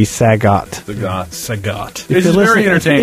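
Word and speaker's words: Sagat: I called Saget from SF Saget, but it turns out to be Sagot.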